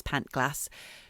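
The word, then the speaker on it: Pantglas: landslide engulfed pant glass i don't know how you pronounce it i believe it's pant glass junior school and two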